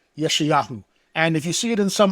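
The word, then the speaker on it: יְשַׁעְיָהוּ: Now, his actual name is pronounced Yeshayahu. That's the Hebrew pronunciation of it.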